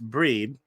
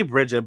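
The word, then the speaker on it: Brigid: and invoke the goddess breed is that how you say it breed they say bridget but i'm pretty sure that that's not how you say that's not how you pronounce it uh she's a celtic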